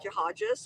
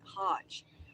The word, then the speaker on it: Haj: People say like Hajes. I'm like Hajj. So it's just a s put on the end by not people mispronounce it.